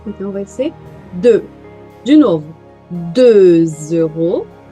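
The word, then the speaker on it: deux: 2. Eu não pronuncio esse X. 2. E agora? Com o vogal eu digo 2 euros. O somzinho de Z.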